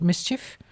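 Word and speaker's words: MSCHF: actually they're an artist Collective called Mischief it's spelled m-s-c-h-f and then every couple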